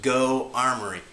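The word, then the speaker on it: Geaux Armory: a place called, and I want to say it's pronounced Go Armory.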